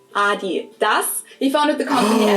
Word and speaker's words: Adidas: they were referring to, because they usually pronounce it Adidas, and in Germany we say Adidas. Adidas.